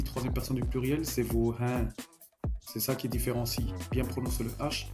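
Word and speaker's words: हैं: Ici, trème personne du pluriel, c'est hin. C'est ça qui différencie. bien prononcer le H et bien prononcer le Nasal à la fin pour expliquer pour bien mentionner qu'on parle de la trè personne du pluriel.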